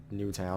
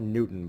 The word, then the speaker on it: Newtown: down here capping in Newtown I was going to call it Newton but that's not that's not how that's pronounced so Kevin and museum